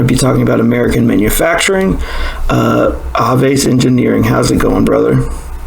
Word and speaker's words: Aves: I pronounce it Aves. The basis of the origin of that is Aves is the Latin root word for birds, the whole avian species.